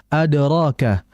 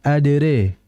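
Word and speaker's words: أدراك: Nah, kemudian berikutnya adraka dalam riwayat hafz itu dibaca fathah rnya. Adapun dalam riwayat warsy maka dia agak dimiringkan wama adrekama ya adre. Dalam riwayat Hamzah pun nanti demikian dengan kata yang berbeda. Namun dalam riwayat Hafaz Anasim yang makrufnya kita di Indonesia maka dibaca dengan maftuh yaitu dengan fathah. Wama adraka.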